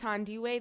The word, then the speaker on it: Thandiwe: It's Thandiwe. The H is silent.